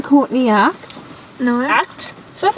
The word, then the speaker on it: Courtney Act: No, that's not how you say it. Courtney Act. Caught in the act. That's what it is.